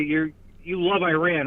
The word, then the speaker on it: Iran: The country's name is pronounced Iran. It's not even hard to say. Yeah, it's pronounced Iran. And also, I I absolutely deplore I absolutely deplore and condemn the actions of Iran in in financing terrorist organizations.